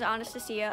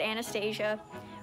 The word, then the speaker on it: Anastasia: There was a girl that went to my school, her name was Anastasia. Unfortunately, everyone mispronounced it and said Anastasia or something like that, but her name is so beautiful.